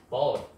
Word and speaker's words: bought: 그래서 과거니까 car는 is의 과거형 was 그 다음에 by, bought, GH는 발음 안 하죠? 그래서 bought 이렇게 그러면 자동차가 was bought 구매되어졌다 나에 의해서 그에게 이거죠.